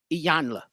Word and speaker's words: Iyanla: Iyanla.